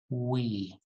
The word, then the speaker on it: we: a little um practice start with ooh you know like ooh as in oh and then just say when we that's w that's perfect w we and now you can delete the u part so you have we right we your teeth do not touch your lip okay that's the biggest key